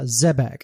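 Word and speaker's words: Xebec: uh specifically May 1995 production IG established the subsidiary studio uh Zebeck and that's Xbec but it's pronounced Zebeck and Zebeck's best known for Martian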